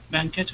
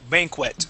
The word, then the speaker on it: banquet: of commerce was holding a banquet not banet and that's it's Bank banquet B banquet okay B and Captain Captain